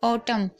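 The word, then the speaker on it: autumn: जैसे कि आप यहां पर भी देख रहे हैं ऑटम। तो यहां पर आप देख रहे हैं यहां पर एन को नहीं पढ़ा जा रहा है।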